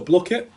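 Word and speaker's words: Blooket: So Blookit, basically spelled like book, but with Blook.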